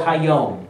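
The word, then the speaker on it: היום: As long as it is called Hayom, or today.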